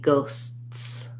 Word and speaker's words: ghosts: at the end right the best way to build up to that is try just saying the first part so try ghosts and then add your tea ghost and then finally ghosts you can also just try these sounds by themselves so basically the s sound continues the t stops and the t and then the s on continues against um you can